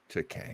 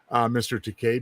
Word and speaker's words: Takei: So I'm a big fan of George Takei. Well, who isn't? And I'm also proud of Mr. Takei because how he told William Shatner how to pronounce his name properly, and he said Bill. Rhymes with toupee.